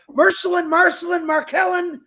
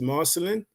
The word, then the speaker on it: Marcelin: So, Markellen, the floor is yours. Well, hello everyone. Good afternoon, good morning, good evening, wherever you are. Again, my name is Marcelin. It's pronounced right, Chris. It's Marcelin.